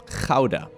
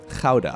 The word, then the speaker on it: Gouda: You guys want to know the proper pronunciation of Gouda? It's a beautiful Dutch city of Gouda. Gouda. Gouda.